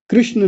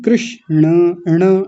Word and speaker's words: कृष्ण: कृष्ण नहीं, कृष्ण। ण को पूरा बोलेंगे।